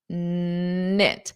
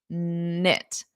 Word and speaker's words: knit: pronunciation they close knit knit so notice that K is silent and there's a verb